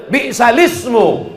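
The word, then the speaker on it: بئس الاسم: Bi'sal ismu. Oh, marah betul Tuan Syekh ini kalau mendengar. Apa itu kata dia? Bi'sal ismu. Tak ada hamzahnya di situ.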